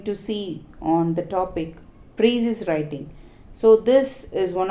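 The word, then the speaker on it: Précis: So what is this Precis writing can be pronounced as Precis writing. Usually we pronounce it as Precis writing, and S would be silent.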